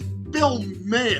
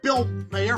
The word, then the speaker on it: Bill Maher: And then his name is Bill May. And a lot of people call him Bill Mayor for some for some strange reason. It's like almost like they can't pronounce his fucking name.